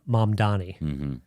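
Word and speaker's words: Mamdani: Well, it was I was interviewing Zoron mom Donnie and I just watched like the debate his debate thing with uh Cuomo when he's like here's how you say my name it's mom Donnie and he like really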